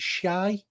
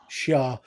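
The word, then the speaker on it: Shi'ar: So, and again, Ben, correct us if I'm wrong, but I think the Danger Room was from, is it Shy? How do you pronounce that? Shah.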